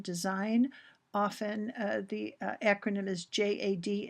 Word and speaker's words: JAD: often the acronym is j a d it's always I have always heard it pronounced uh not as a word so as Jad so a joint application